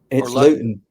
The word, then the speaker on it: Luton: You're a Londoner or you were a Londoner and now you're living in is it is it pronounced Luton? Luton. Luton.